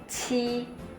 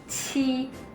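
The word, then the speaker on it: 七: 7 itu ci. Jadi ada anginnya, bisa dicek ci. Oke, teman-teman bisa tirukan 7, ci.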